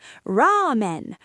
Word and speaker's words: ラーメン: Ramen. Notice the long A sound.